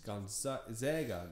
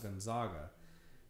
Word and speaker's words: Gonzaga: It's Gonzaga, not Gonzaga.